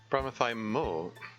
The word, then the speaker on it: bromothymol: Bromothymol. Yeah. Huh? That compound. She heard the. She heard the letter E being pronounced over the phone, I guess. Anyway, that compound is bromothymol mol, not mel.